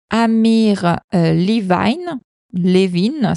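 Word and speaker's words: Amir Levine: ce sujet, celui de Amir Levin, si on le prononce en français, et Rachel Heller.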